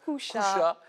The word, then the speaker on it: Cuxa: Et oui, ce qui est encore plus normal, c'est que ça s'écrit Cuxa et ça se prononce Couchat. Eh bien, à la catalane.